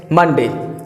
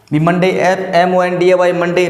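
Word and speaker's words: Monday: मंडे क्या प्रत्यारे मंडे लेकिन यह जो प्रनंसीएशन है ये जो उच्चारण है वो गलत है और ये सिखाया जाता है स्कूल मंडे लेकिन इसका जो प्रनंसीएशन है वो होगा ये मंजय मंडी या फिर मंडी हो गया लेकिन ये जो प्रनंसीएशन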